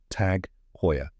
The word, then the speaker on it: Tag Heuer: it down step by step here's the correct pronunciation tag Hoya let's break it down first tag this one's